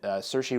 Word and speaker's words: Saoirse: Same star who was in Saoirse Ronan, I believe, is how you pronounce her first name.